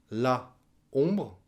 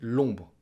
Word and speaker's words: l'ombre: La ombre, on dit l'ombre.